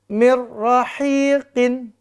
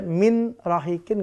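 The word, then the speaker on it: مِن رَّحِيقٍ: tanpa deng dengu selanjutnya Mir rahiqin Mir rahiqin Mir rahiqin gu Bil guna Mir enggak boleh Min rahikin enggak boleh Mir Rin enggak boleh bacanya Mir rahin contoh keempat mabada mabada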